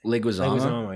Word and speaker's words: Leguizamo: Oh man, how do you pronounce it? I should know that. Leguizamo, yeah.